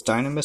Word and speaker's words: Dynames: And and yes, like most people that I've seen reviewed this kit refer to this Gundam as Gundam Dynames, pronounced as Dynames, so that's what I'm going to be referring to him as.